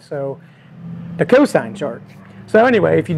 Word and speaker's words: cosine: So when I say cosant, it's really cosine. But anyway, that's really nothing. But anyway, he did call me out and he was right. So the cosine chart.